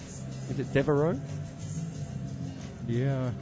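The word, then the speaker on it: Devereux: Is it Devereaux? Yeah. It's something, I'm maybe mispronouncing it. It's got an X in there somewhere. Yeah, no, it's Devereaux. It is Devereaux.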